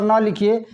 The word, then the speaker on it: नल: है, उसी जगह पर न लिखिए, न अल नल, तो ये मकान, मकान, आधा न है। और उसी तरह नल जब बोलेंगे तो न पूरा, नल, न।